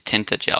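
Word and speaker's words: Tintagel: Apparently, it is tinted gel. I'm honestly surprised that's the correct pronunciation.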